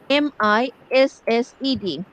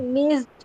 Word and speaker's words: missed: missed, মিসড, এখানে ইডি এর উচ্চারণটা টি, মিসড।